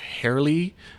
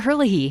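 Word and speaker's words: Herlihy: part about touching Birds Dr Rachel uh hairly is a state uh oh Dr Hurley Hurley yeah thank you for helping with the pronunciation she's a state epidemiologist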